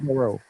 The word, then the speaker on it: Baraou: Baraou, Abass Baraou.